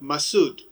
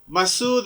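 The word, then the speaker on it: Masoud: hero commander massoud chief masood but let me pronounce his name in purity without all these adjectives that we have given it masud masood in arabic persian means the person of high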